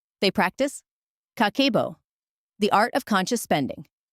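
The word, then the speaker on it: 家計簿: In Japan, there is a 100-year-old practice called kakebo, pronounced kakebo, and it translates simply to household financial ledger.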